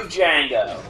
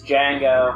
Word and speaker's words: Django: The D is silent. No, it's not. Yeah, it is. Nope. Then how come every time I put it with a D at the beginning, it's Django?